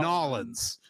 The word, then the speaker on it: New Orleans: It's actually, I know it looks like it's spelled New space Orleans. New Orleans. But in reality, it's spelled apostrophe Nawlins. Nolans.